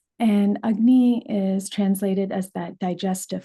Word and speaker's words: agni: This word ugnney, it's spelled a g n i ugnney. And ugny is translated as that digestive fire.